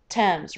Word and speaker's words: Thames: is the other one that doesn't sound that way it looks like it should say thames or tames this is actually the thames river the river thames right